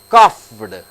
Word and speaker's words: coughed: P, you get ED, and ED is changed into T. See here, cough, C-O-U-G-H, cough. Word ends with H. H is unvoiced. Cough. Coughed. You say coughed. But the pronunciation, the sound is coughed.